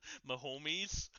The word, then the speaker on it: Mahomes: For my sanity, please pronounce Mahomes correctly. Mahomes.